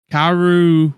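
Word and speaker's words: Kaoru: Kairu, is that her name? Kairu. Yeah, that's how you say it. Mhm. Kairu was the one who cooked the fish, and apparently she's not a good cooker.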